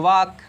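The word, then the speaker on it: walk: तो वॉक, ये वाल्क लिखा जाता है, बट यहाँ ल जो है साइलेंट मोड में रहता है, तो इसे पढ़ा जाता है वॉक।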